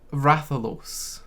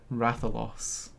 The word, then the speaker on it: Rathalos: in that trailer was someone saying uh rathalos what that is a weird pronunciation it's ratholos for it is made